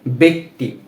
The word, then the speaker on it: ব্যক্তি: ঠিক আছে, এই যে এখানে ব জফলা রয়েছে কিন্তু এরপরেই কি রয়েছে, রস্যিকার, এজন্য এই ব জফলা এর উচ্চারণটা হচ্ছে এ এর মতো, এ। যেমন ব জফলা বে, বে। এরপর ক সংযুক্ত ত রস্যিকার তি, কি হয়, ব্যক্তি, ব্যক্তি।